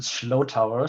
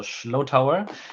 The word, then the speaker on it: Schlotower: And that long, difficult German name, you pronounce it Schlotower. So it's like a slow tower, but with a sh. So Schlotower.